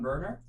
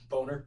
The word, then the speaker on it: Boehner: Well, look at, I'm going to say it probably wrong, but Representative and House Speaker John Boehner. Boehner. Boehner. It's spelled Boehner.